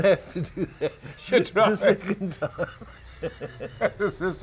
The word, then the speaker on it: Chidrawi: And we are speaking to my friend Chidrawi. Chidrawi. Cut. You're going to have to do that. Chidrawi.